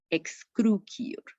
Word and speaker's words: excrucior: La pronunciaríamos como una ki, excrucior.